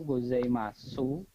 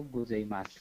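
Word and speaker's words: ございます: kayak tadi Ohayo gozaimasu cuma yang membedakan itu Odi akhir itu diresapkan jadi bacanya bukan Ohayo gozaimasu tapi Ohayo gozaimasu Oh gitu jadi bentuk-bentuk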